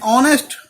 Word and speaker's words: honest: और इससे पहले हम, हालांकि ये H कॉन्सोनेंट से शुरू हो रहा है, लेकिन हम इससे पहले ए नहीं लगाएंगे, एन लगाएंगे, क्योंकि जो बेशक कुछ